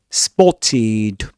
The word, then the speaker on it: spotted: The ed d ending is pronounced id. Eid. Spotted.